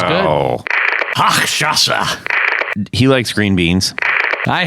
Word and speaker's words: Hochstrasser: Straw haxer. I don't feel bad now. Straw haxer. I'm trying so hard to say it right. Hang on. It's Hochstrasser.